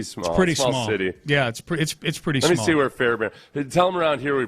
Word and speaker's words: Fairburn: Let me see where Fairbairn. Tell them around here we pronounce it Fairbairn.